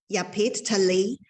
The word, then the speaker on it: Yapit Tali: Pronunciation? Yapit Tali, who has rich experience in dealing with nature disasters.